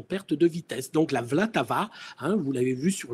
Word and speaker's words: Vltava: Alors, donc, en allemand, la Moldau et en tchèque, la Vltava. Alors, V-L-A-T-A-V-A. Vltava. Vltava. Vous l'entendrez. C'est pas facile à prononcer, mais nos amis guides sur place ont l'habitude que nous disions la Moldau.